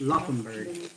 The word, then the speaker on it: Laufenberg: Laufenberg. Loffenberg. Laufenberg. It's Loffenberg. Oh, ayun daw tamang pronounce.